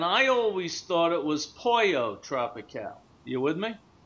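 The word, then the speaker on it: Pollo Tropical: always thought it was poo tropical you with me m many many Spanish people in Miami call it pojo okay pojo tropical they pronounce it with a J not with a silent l so I'm not sure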